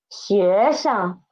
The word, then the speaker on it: 学生: 学生. 西约学. 生生. And 生 is the neutral tone, so pronounce it soft and quick.